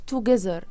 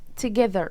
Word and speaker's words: together: wither another mother together، وانا ما قلتهاش together، انا قلت together. حرف ال O مش هيتنطق. خلينا دلوقتي فاهمين ان حرف ال O مش هيتنطق، بس فيما بعد هنعرف السبب، لان هو جاي زي حاجة اسمها شوا، فهي ما اسمهاش together، هي اسمها together.